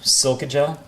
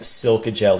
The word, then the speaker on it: silica gel: silica gel silica gel silica gel it's funny I grew up saying silica gel even though I know the the right way to say it is silica gel I have a casino